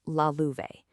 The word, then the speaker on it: Lalouvesc: And by the way, that's pronounced Lalouvesc.